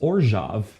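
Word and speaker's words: Orzhov: in a small abandoned orjov tomb somewhere under north midori park also discovered that it's present it's pronounced orjav because it's like it's slavic yeah um yeah so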